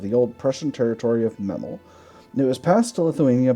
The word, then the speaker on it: Memel: right claims meml I I think this is pronounced meml I almost always call it miml just because I think that's funny but it is what